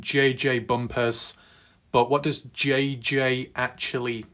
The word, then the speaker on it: Bumpas: So JJ says, my last name is Bumpas, not bump ass.